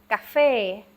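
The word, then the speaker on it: កាហ្វេ: Ca, once again, it's the soft G or the K without the sound. Café. And the fe is the one that is accented.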